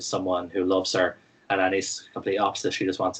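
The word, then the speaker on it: Anaïs: But yeah, the main character, Anise, I think is how they pronounce her name, Anise.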